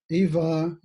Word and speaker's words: Ivar: some of you might recognize my guest today eva have i pronounced that correctly that's correct and ivar is